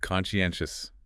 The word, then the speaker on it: conscientious: That's four syllables. Conscientious. Stress on the third syllable there.